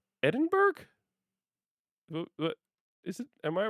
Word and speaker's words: Edinburgh: That's pronounced Edinburgh. Edinburgh.